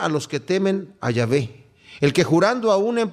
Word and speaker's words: Yahvé: conmovido jamás digo yavé porque en algunas de sus Biblias dicen Jehová en realidad se cree que la traducción más correcta la pronunciación más correcta puede ser yahvé porque lleva las letras en orden de y o y H V corta H no importa